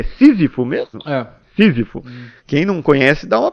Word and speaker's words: Sísifo: Tá certo a pronúncia? É Sísifo mesmo? Sísifo.